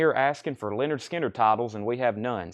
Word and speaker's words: Lynyrd Skynyrd: Joe Valentine wants a pronounced Leonard Skinner for this price not